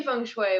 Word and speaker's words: feng shui: feng shui um it's you say feng shui but it's not spelled like that it's f e and G second word s-h-u-i um so it looks like feng shui but it's feng shui um but what I